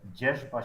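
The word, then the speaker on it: dzierzba: Jeszba Shiva.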